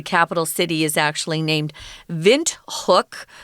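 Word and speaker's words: Windhoek: city is actually named vent hook which is the German pronunciation you can also say wind hook I I think people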